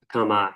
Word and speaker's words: Akamai: They do have cloud-based web application firewalls, and Akamai, I believe is how it's pronounced.